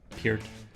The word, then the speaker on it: Peart: sorry for mispronouncing his name. It is Peart with a hard E.